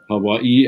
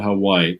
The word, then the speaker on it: Hawaii: it was appreciated that i pronounced words as the locals too hawaii and not hawaii of course that's why